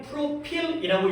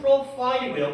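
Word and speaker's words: profile: 또 해 것 같아서 우리는 프로필이라고 읽지만 실제 영어 발음은 프로파일이고요.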